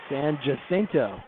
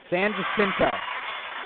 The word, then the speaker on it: San Jacinto: was from florida gulf coast but she's not san jacinto there you go you did it better than me san jacinto that's a raider point megan alders again megan